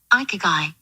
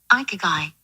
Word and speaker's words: Ikigai: So listen, the first thing we're going to talk about, not your balls, is going to be this Japanese philosophy called Ikigai. Ikigai.